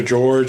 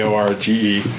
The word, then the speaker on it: Jorge: His first name it's either George or Jorge, depending on if you prefer the Spanish pronunciation. I prefer Jorge myself. Well, it is with the J, Jorge.